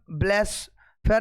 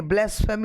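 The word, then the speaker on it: blasphemy: ब्लेस फेयर नहीं ब्लेसफेमी होता है।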